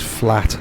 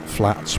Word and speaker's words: Flat: that is totally wrong it is flat singular not flats plural and i'm trying to